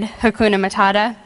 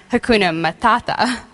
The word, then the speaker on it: Hakuna Matata: two words very common to any American kid, Hakuna Matata, which after a few days in Rwanda, I found out it was actually pronounced Hakuna Matata.